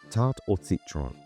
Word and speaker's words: tarte au citron: In French, the name for a lemon tart is tart or citron, pronounced tart, t a r t e or a